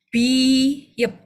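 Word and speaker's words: 비읍: Oke, kalau posisinya di awal, dia jadi B. Kalau posisinya di akhir, dia jadi P. Oke, jadi ini bacanya biyep. Oke, ini kan B-nya di bawah, makanya dia jadi P. Oke, jadi bacanya biyep.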